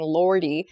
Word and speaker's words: lordy: like the r sound when we spell that word on paper it's l o r d y but when she pronounced it it was like l a w d y that was that was